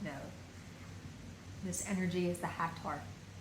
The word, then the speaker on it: Hathor: This energy is the Hathor. Sometimes pronounced Hathors or Hathor, the sacred cow goddess of Egypt, but also the wider interdimensional beingness, the frequency of energy that is the Hathors.